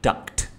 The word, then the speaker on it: duct: and collecting that so collecting duct not duck okay but yeah um so when I use the word duck or duct you know it's just pronunciation issues anyway so what I'm